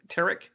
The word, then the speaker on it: Tariq: I'm sorry, is that how you pronounce the Tariq?